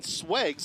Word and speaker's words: SWEG: Now, the 309 SWEGs, am I saying it right? SWEG, SWEGs. Exactly.